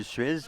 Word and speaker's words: Suez: on parle du canal de Suez, par exemple, on le prononce.